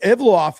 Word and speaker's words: Evloev: I'm I'm going to spell it out. Evloev is I think it's Evloev, but E V L O E V, Evloev. That's how I say it.